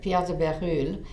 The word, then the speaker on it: Bérulle: cousin of Pierre de Bérulle. Again, it's Berulle, and you may have heard his name with a different pronunciation.